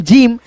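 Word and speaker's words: gym: अब यहां पे इसके नीचे देखो जी वाई एम जिम यानी जी है यहां पे। लेकिन यहां पे उच्चारण ग आ रहा है। यहां पे भी ग आ रहा है दोस्तों जी का। लेकिन यहां पे जी के बाद वाई आ गया तो जिम हो गया।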